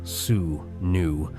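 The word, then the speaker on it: swnw: The physicians of ancient Egypt, known as Swan, pronounced Sue New, were not merely doctors, but priests, scholars, and magicians allin one.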